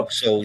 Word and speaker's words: Vauxhall: Is that how I pronounce that? Vauxhall. Vauxhall, yeah.